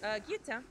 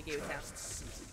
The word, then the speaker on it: guillotine: Lyra, how do you pronounce guillotine in French? Guillotine. Is my time. Oh, sorry, actually. Let's see if you're strong. Yeah, actually it is actually guillotine.